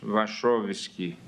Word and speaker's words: Wachowicz: Agora vamos ouvir o professor titular da Faculdade de Direito da Universidade Federal do Paraná, professor Wachowski. Depois me diga se eu fiz a pronúncia correta do nome.